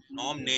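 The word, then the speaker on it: Phnom Penh: नॉम ने है, THNOM, नॉम ने है, सॉरी ये देखो ये है कैपिटल, तो नॉम ने पढ़ते हैं इसको, T यहाँ पे साइलेंट होता है।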